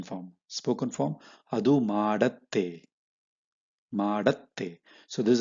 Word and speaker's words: ಮಾಡತ್ತೆ: Spoken form, ಅದು ಮಾಡತ್ತೆ, ಮಾಡತ್ತೆ. So this is how you should pronounce ಮಾಡತ್ತೆ.